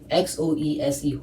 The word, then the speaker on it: Xoese: It's pronounced like Jose. Yeah, Xoese, Jose.